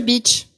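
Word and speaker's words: Bitche: tout essayé les pauvres ça s'écrit B i T c par contre tu dis Beach ah oui tu dis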